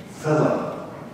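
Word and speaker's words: philome: It has to be two syllables, you see. It has to be. Philip.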